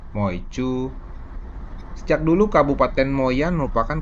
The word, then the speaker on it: 梅: dibacanya moyan sementara me dalam bahasa hak dibacanya MOU sejak dulu Kabupaten moyan